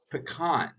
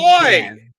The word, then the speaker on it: pecan: the proper pronunciation of that pie, which is pecan, not Good boy. pecan.